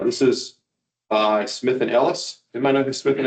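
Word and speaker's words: Helwys: He was then convicted of his selfappointed baptism and had his best friend Ellis, that's how you pronounce his name, rebaptized him.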